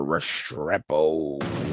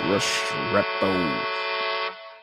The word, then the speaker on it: Restrepo: Xavier Restrepo. You got to say it like that. Restrepo.